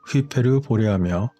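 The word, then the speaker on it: Hyperborea: 이러한 콜라반도에서 세계에서 가장 오래된 피라미드의 놀라운 발견은 전설적인 하이퍼보레아의 존재를 나타내는 것일까요? 하이퍼보레아의 그리스식 발음은 휘페르보레아며 보레아는 북풍인 보레아스를 뜻하고 하이퍼는 보레아스의 너머를 뜻하기 때문에 다시 말해서 북쪽 너머 끝에 있다는 의미라고 할 수 있겠습니다.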